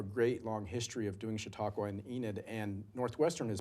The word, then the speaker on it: Chautauqua: McMillin, is the Winter Chautauqua. Did I pronounce that right? Yeah, Chautauqua.